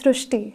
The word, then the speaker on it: Srushti: So in Marathi, the word Ri is pronounced as Ru. So that is why the pronunciation goes Srishti.